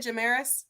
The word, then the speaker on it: Jamaris: How you say it, Jamaris?